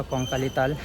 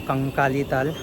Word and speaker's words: Kankalitala: को अजीब लगता रहेगा, कोंकाली ताल, यानी हिंदी में बोले तो कंकाली ताल, थोड़ा सा प्रोनाउंसिएशन बांग्ला हो गया, कोंकाली ताल।